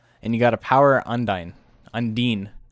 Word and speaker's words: Undine: you got a power undyne undine undeen's how you say it everybody's saying undyne the